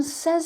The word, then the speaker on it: says: the present simple and remember the pronunciation here is say but this is says say says say says